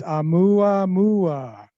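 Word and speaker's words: ʻOumuamua: So it's Oumuamua.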